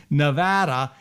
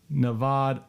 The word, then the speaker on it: Nevada: correctly because i say nevada and guess what i'm told here that it's navad uh not nevada it's navad uh it's not pronounced like spanish even though it's a spanish word and all i can